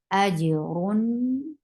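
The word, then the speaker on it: أجرٌ: For dhamma, circle your lips, and give a sifa of tawassut because you are pronouncing tanween. Ajrun.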